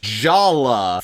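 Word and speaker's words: Jaller: Also, Jala's name is spelled like this, but it's pronounced Jala for reasons that humanity really has yet to fully understand.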